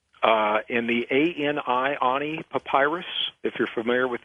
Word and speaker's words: Ani: living and dying uh in the a ni Ani Papyrus if you're familiar with the a ni it's pronounced Ani uh Papyrus of the Oni tablets